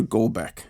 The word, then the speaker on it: Golbeck: Jennifer Golbeck. Am I pronouncing that right?